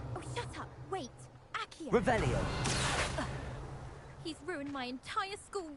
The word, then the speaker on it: Revelio: Ugh, Revelia. What are they looking Much for? better. Oh, shut up. Wait. Accio. Revelio.